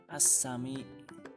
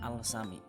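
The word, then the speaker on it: السميع: Kemudian yang ketujuh, al bertemu dengan sin, contohnya ini dibaca as-sami, as-sami ya, bukan al-sami.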